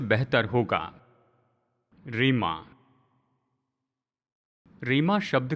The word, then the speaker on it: rhema: और वो ग्रीक शब्द का उच्चारण हम इस तरह से करते हैं, रेमा, RHEMA, रेमा।